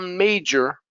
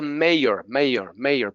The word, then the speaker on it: major: It's a major problem. It's a major problem. Many times I hear people say it's a mayor problem.